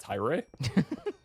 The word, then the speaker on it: Tyr: Did you say TYR is pronounced Tyre? That's the official pronunciation.